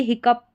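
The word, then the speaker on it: hiccough: ओ यू जी एच का उच्चारण अप करके आ रहा है। तो यहां पर जैसे कि यह हिक अप।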